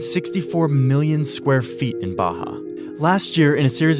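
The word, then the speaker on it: Barra: is the place called Baja ours are pronounced like H in Portuguese this is a new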